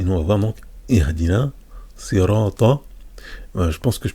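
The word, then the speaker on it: اهدنا: Donc la lettre ha, quand elle a une soukoun, donc une absence de voyelle, elle se prononce comme ça.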